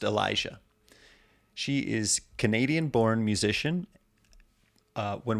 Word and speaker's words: Ill-Esha: Her artist name, spelled ILL-ESHA, pronounced Elisha.